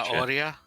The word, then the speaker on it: zanahoria: According to Golux, or according to Sergeant, you don't pronounce the H in Spanish. Oh, you do not pronounce the H so in it's Spanish? Zanahoria?